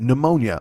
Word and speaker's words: pneumonia: Pneumonia. Oh, it ruined the mnemonic. It ruined the fucking pronunciation of the P.